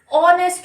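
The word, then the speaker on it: honest: Means जैसे हमारे पास लिखा हुआ है ऑनेस्ट, तो इसका प्रोनाउंसिएशन तो ऑनेस्ट हो रहा है, यानी कि इस टाइप से ऑनेस्ट। तो इसमें तो ये नहीं है, एच तो नहीं आता।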